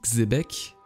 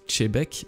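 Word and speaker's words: Xebec: répondant au nom de rocks dit québec mais qui se prononce chebec a donc touché certains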